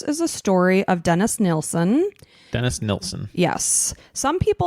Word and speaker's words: Nilsen: One of the people described it as Nielsen, but it's predominantly pronounced Nilsen.